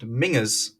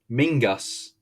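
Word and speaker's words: Menzies: name is actually pronounced mingas mingas as it is a Scottish last name and one of his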